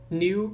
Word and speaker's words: knew: Lembrando que, né, uma coisa aqui da fonética, sempre K e N, sempre quando você vê K e N no inglês, o K não é pronunciado, tá? Então, know, knew, que é o passado de know, knee, que significa joelho, knock, que é bater, né? São palavras que se pronunciam sem o som do K, tá?